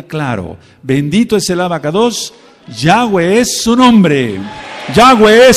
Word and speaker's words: Yahweh: mi nombre y sabrán que mi nombre es Yahweh. No hay otra forma de pronunciarlo.